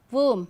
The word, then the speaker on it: womb: M, okay, like to, womb. So, whenever you find B is at the end of a word and just after the letter M, B is silent.